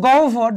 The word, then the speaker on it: গহ্বর: একই অবস্থা এখানে গহ্বর, দেখো হয়ের পরিবর্তে কি ও এবং বয়ের পরিবর্তে বয়ের যে মহাপ্রাণ সেটি হচ্ছে কি ভ।